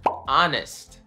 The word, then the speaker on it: honest: The silent H. The first one is honest. We don't say the H there.